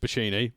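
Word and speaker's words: Bocchini: So, our commentators for tonight, uh I don't know how to pronounce his last name. Is it Rich Bini? Rich Bashini, who was Rich Brennan in NXT.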